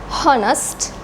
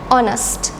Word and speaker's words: honest: silent in these words we don't pronounce the H sound here we don't say however